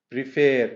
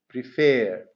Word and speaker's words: prefer: Prefer. Do we double the consonant here? Yes. Preferring. Admit, admitting. Second syllable stress, because the second syllable is stressed. Prefer.